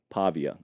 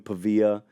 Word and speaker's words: Pavia: pava Pavo hey Jesse did we get a final pronunciation on the last name Pavia okay ca it could have been pava either way I was